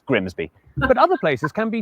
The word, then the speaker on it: Grimsby: But what if we told you it was pronounced Grimmies? We'd be lying. It's Grimsby.